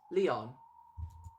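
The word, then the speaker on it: Lion: Written as blah blah blah, but pronounced Leon.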